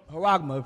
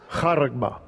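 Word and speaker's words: χάραγμα: Haragma pronounces it. So you know how it's pronounced. Strong's G, 5480. Haragma.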